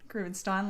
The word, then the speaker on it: Groovenstein: Groovenstein like wine. Now everyone knows how to pronounce it.